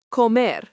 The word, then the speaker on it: comer: Let's look at this with another verb, comer, pronounced co-mer, means to eat.